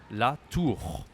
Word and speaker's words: la tour: La tour. Tour. The pronunciation is easy, like this. But no, the R is hard, but the U is okay.